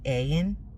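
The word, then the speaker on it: עין: The ayin is actually, you would say ayin, in the proper way to say the Hebrew word, is the eye of Yahuah.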